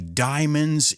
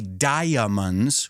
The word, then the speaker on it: diamonds: the Expression to be Diamonds in the Rough you say the same thing Diante Ino just be careful we don't say diamonds we say Diamonds the a is silent and then I said